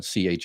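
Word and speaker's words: Qin: China was named for, his place was called China CI. Now it's spelled Q I N.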